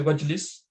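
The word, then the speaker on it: وَاجْلِسْ: This Hamza doesn't need to pronounce, so we say wajlis.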